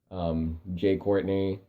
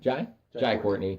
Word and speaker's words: Jai Courtney: Which the big players for that are definitely going to be Jay Courtney, Jack Courtney, Jai. That's how you say his name. Jai Courtney.